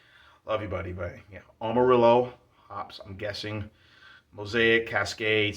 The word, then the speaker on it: Amarillo: gonna pronounce it correctly amarillo not armadillo amarillo hops ronald j terry